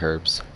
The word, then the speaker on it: herbs: Healing herbs. Herbs. Sorry, the H is This silent.